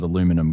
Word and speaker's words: aluminum: Aluminium depends on where you are in the world and you spell it differently. Down under we call it aluminium, but now I call it aluminum. Guys, I've learned the new word.